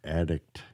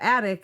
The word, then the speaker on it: attic: when we were recording, he kept saying attic, but he was saying it with an extra syllable at the end of it. Yeah, like addict. Addict. Instead of attic, it was like addict or something like that. And so in editing, I cut out that extra syllable so he was saying it properly.